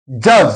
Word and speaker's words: judge: Judge, same is the case. D is silent here.